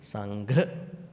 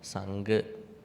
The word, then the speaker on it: Sangha: So when you pronounce, it has to be Sangha, not Sangha.